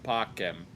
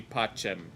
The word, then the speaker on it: pacem: I mean, he pronounced the C correctly. It's pacem. Like in ecclesiastical pronunciation, this would be pacem.